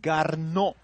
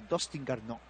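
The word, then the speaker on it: Garneau: pronuncia Garnó, Garnó, Garnó, se pronuncia Dustin Garnó.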